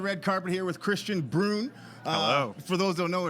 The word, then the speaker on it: Brun: carpet here with Christian Brun uh for those don't know it rhymes with prune it rhymes with prune yeah it's like broom but with an N at an N yeah